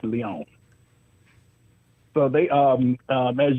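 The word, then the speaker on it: Lyon: I'm pronouncing that right but it's spelled l yo n so I'm guessing it's Leon so they um um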